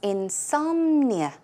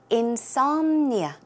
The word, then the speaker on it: insomnia: what insomnia is but let's check out the pronunciation the stress goes on S so it's insomnia insomnia okay and another word for that word is